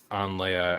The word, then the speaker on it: Leia: talk about it, but my Hebrew name is actually Leia, and it's spelled Leia, pronounced Leia like in the Torah.